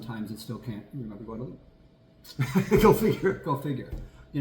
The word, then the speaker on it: Guadalupe: It's Guadalupe. Guadalupe, that's the street. Or Guadalupe, as they say around here.